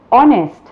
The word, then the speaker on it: honest: The first letter is silent. Let us see some examples which will make it very clear to you. Words like hour, honest, heir.